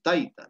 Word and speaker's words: taita: Entonces, la pronunciación aquí es mama, aquí es taita, ¿no?